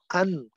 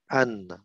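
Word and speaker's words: أنّ: Nah, tadi ini dibaca an qaulahu. Anna bacanya ya. Oh, Anna, betul.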